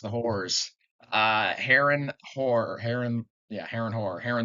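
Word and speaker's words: Harren: talking about the yes that's like how it's pronounced the uh Heron Heron yeah her and Heron the black anyways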